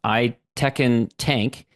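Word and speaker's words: Aytekin Tank: busy work by uh I believe it's pronounced I Tekken tank and he's the founder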